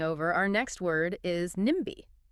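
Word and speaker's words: NIMBY: Speaking of words crossing over, our next word is nimi. Now, unlike ASMR, where we say each letter, nimi is an abbreviation that is pronounced as a word.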